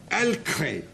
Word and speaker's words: halecret: Now it's David Hunt's turn to tell us about Halecret, Halecret, I don't know. The frog, the French pronunciation is the correct one, Alcré.